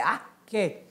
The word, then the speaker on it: arché: de vista é Aé ou na no na pronúncia mesmo grega é arque que é o princípio que dá origem às